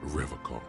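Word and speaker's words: Revachol: But someone has to stay strong for Revocol. You can't even pronounce it right. He pronounces Revocol with a hard K, unlike other people.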